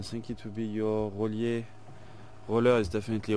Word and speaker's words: Rollier: I think it would be your Rollier. Roller is definitely Rollier. R-O-L-L-I-E-R. Rollier. D'Abyssinie. D'Abyssinie is... I think you spell it A-B-A.